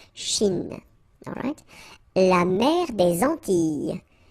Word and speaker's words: Antilles: So here it's quite interesting because, well, you've got this E and then double L, S. Okay? So final S and really you don't pronounce them. So you get this E sound.